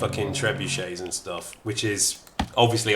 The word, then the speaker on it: trebuchet: Yeah, that's why every say time I say it, I pronounce it trebuche.